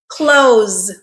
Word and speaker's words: closed: d climbed all right close pay attention to this one it ends with the letter e but what sound does it end with it ends with the z sound which is a voiced consonant okay so this is